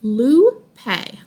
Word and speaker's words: Lupe: the loopiness bright blue her name is pronounced blue pay she always she's always